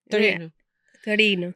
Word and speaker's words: Torino: Well, in Italian it's Can you say to Torino?